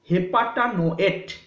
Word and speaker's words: heptanoate: Ethyl हेपाटानोएट, ETHYL, ethyl हेपाटानोएट, HEPTANOATE, यू कैन से इट हेप्टानोएट also, हेपाटानोएट और हेप्टानोएट, 200 ग्राम।